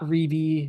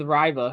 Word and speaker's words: Reibe: Yukon as big man we looked up this pronunciation we heard him say it himself in a video Eric RBA it's not rebi ryy whatever you we're going with Riva because that's what we